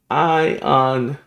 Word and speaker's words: Aion: Right here, you want to go to Ion It's the best way to invest on the market.